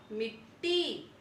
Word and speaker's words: मिट्टी: तय जो है वह पूरा है, तो इसका उच्चारण कैसे होगा, मिट्टी।